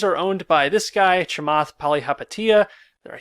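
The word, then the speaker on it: Chamath Palihapitiya: specs well these are owned by this guy chamath pali hapatia there i said it right it's hard to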